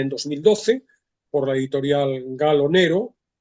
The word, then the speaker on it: Gallo Nero: El libro está publicado en España en 2012 por la editorial Gallo Nero. Pronuncio la italiana porque la novela tiene el origen, digo, la editorial es